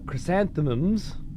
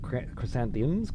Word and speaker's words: chrysanthemums: Uh, chrysanthemums. Not chrysanthemiums. Chrysanthemums.